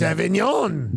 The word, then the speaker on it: Avignon: The G is silent. It's Avignon.